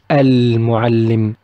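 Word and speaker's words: المعلم: Another example, if Mu came and it is one of the lunar Al team, Al Al-Qamariya, we will pronounce Al. We will say Al-Mu'allim, Al-Mu'allim.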